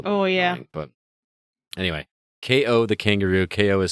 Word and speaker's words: Kao: thing over again it's oh yeah but anyway ko the kangaroo ko is spelled k-a-o um might want to wait on